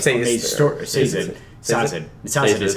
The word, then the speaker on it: Sazed: Sazed is how they say it.